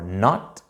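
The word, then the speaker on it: knot: N for not, so your k is silent here. N for not. Your g is silent here.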